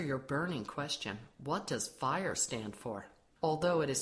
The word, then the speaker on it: FHIR: So to answer your burning question, what does FHIR stand for? Although it is spelled F-H-I-R, it is pronounced as FHIR.